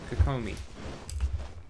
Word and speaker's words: Kokomi: there we go c c Coco Coco me kakomi that's how you say her name is kak